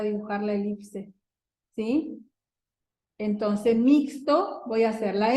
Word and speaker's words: mixto: En mixto tenemos mi sería como mixto, en segunda. Fíjense que acá, el mismo caso que decíamos hoy, acá se escribe con X, pero suena como S.